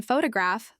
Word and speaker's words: photograph: For example, in photograph, the first syllable is stressed, pho to graph.